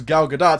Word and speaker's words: Gal Gadot: name like for example with gal gadot she pronounce her name is gal gadot so I'm like okay she's gal gadot but